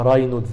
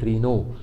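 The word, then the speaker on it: Raynaud: دي عندها ظاهره، عندها سبازم في شرايين ايديها، ظاهره بيسموها رينو فينومينا. رينو فينومينا، في ناس ينطقوها راينودز فينومينا، انطقها زي ما تنطقها، بس هو الصح رينو، لان هو منسوبه لدكتور فرنسي اسمه موريس رينو، هو اللي وصف الظاهره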